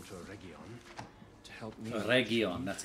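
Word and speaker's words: Eregion: Oregion, that's how you pronounce it.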